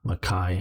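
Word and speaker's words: Mackay: noise i grew up in the mckay or makai also rockhampton is one word and i do i've not oh serial lurker makai as in this the scottish way of pronouncing it yes rockhampton here you're saying here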